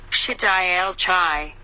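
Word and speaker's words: שדי אל חי: means almighty living god pronounce the CHS in the name of the class cycle composer Bach and pronounce the AI in charge aya and chai is in the word I allow the beam to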